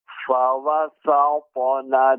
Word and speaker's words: فوسطن: Ya, Bapak pengucapan sin fawasat tidak tebal. Jadi tetap pada huruf ya pengucapannya tipis. Fawasatuna tidak sampai menjadi tebal. Fawasatuna silakan Bapak diulangi. Fawasatuna. Fawasatna bihi jam'a.